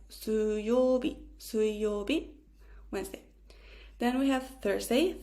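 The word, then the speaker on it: 水曜日: Wednesday we write it with the kanji of water and we say it like 水曜日, Wednesday.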